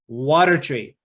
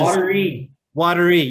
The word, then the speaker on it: Wateree: We have Cameron, who is a park ranger out at Lake Wateree, which is Wateree. Yeah, see, I knew I was going to make that mistake again. Lake Wateree. I've been saying it wrong. Go ahead and keep track as you listen how many times I say the wrong way.